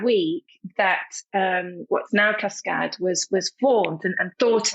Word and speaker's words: Cascãd: waterfall in French but if you spell say it as it's spelled in French it's Cascade which which is awful so that's how the cascad and I I put a tier in for the short a so that's how cascad